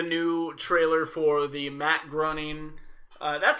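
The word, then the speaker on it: Groening: finally got the new trailer for the Matt grunting that's how you say his name claiming I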